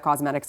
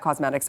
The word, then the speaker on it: Causemetics: By the way, the keyword in Thrive Cosmetics is cause, because they are on a mission to help people.